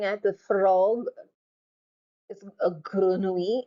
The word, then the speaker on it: grenouille: Notice how I pronounce the double L. Grenouille, grenouille. Push it to the back of your mouth.